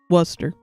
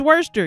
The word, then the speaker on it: Worcester: I live up in Massachusetts, so hearing people mispronounce worester makes me feel weird. Take a break, maybe." All right, Worcester. Helen, you told me it was worester.